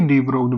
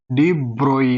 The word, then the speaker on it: de Broglie: ये वाला गलत प्रोनाउंसिएशन है, तो इसका सही प्रोनाउंसिएशन डी ब्रोई है, डी ब्रोई, ठीक है, ना कि डी ब्रोगली, ठीक है।